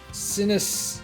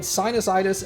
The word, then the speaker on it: sinusitis: years you had sinistis sinus sinus sinusitis I was breaking up the word the syllables in the wrong spots you had sinusitis and a middle ear